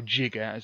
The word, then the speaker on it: giga: Then there's mega for million. Then there's giga, or jigger, as it was originally intended to be pronounced. And they pronounce it correctly on Back to the Future when he says gigawatts.